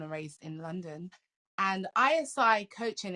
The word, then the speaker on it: ISI: So tell me let us know first of all, where you are, and what is ISI coaching, or am I not saying that correctly?